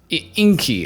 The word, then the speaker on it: Ingy: Ingy. It's spelled I-N-G-Y, but you pronounce it Ingy, which is, I guess